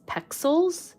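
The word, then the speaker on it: Pexels: to check out is pixels it's like pronounced or it's spelled pixels but instead of an eye it's another E and that's like a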